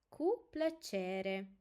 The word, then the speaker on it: cu plăcere: Thank you is mulțumesc, mulțumesc, and you're welcome is cu plăcere, cu plăcere. And we have a special syllable also here, ce, ce.